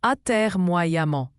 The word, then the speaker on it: atermoiement: Attermoyment se prononce attermoyamment.